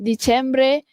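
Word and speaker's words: dicembre: Okey bukan Disember tapi di Cembre.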